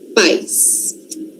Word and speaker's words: pais: Pais. Esse caso aqui, pais, né? Mas pá, é forte. Pá, não é calma que tem outra palavrinha parecida com essa daí. Pais. Pais, no caso, é uma sílaba só, mas a o forte dessa palavra tá lá no comecinho.